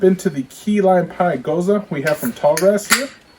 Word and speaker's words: Gose: like it's ghost gose it is pronounced goza usually that is a